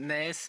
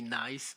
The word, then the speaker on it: Nijs: In Flemish, my name is Nijs, but and you pronounce it differently. But sometimes people abroad call me Nice, but that's okay.